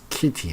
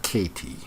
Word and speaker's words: Kitty: It's Kitty, not Katie.